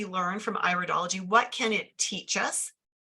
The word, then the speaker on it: iridology: part of the eye we pronounce this iridology because it is an iris it's not iridology it's iridology and so as we